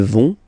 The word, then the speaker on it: vont: Ils vont. Elles vont. Okay, remember, final T not pronounced, so you get this O-N nasal here.